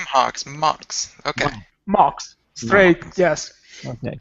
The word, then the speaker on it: MHOX: Phil is a partner and lead designer for M Hawks Phil welcome into computer America how are you I'm fine good evening everybody here I am I'm from Mox which is the correct pronunciation and thanks Craig